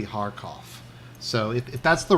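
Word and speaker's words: Kharkiv: supposed to pronounce it I think the Russian pronunciation is harof I was saying carof but I think it's supposed to be haroff so if if that's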